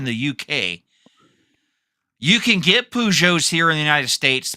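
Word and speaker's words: Peugeot: Uh, that's not how that's that's that's not how you that's not how you pronounce it. Pujo.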